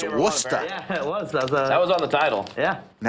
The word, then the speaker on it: Worcester: Richard Greenberg, formerly of Worcester, Didn't expect. Hey, I to did the see same that. thing, to be fair. Yeah. Massachusetts. It's Worcester.